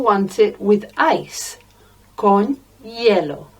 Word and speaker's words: hielo: Some people want it with ice, con hielo. It sounds like the colour, yellow, but it's spelt with a silent H, I-E-L-O, hielo, con hielo.